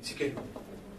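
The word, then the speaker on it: Tsidkenu: Roni s'écrit à Tchikenou d'abord. Tchikenou c'est T-S-I-D-K-E-N-U. Vous avez noté? T-S-I-D K-E-N-U. Tchikenou.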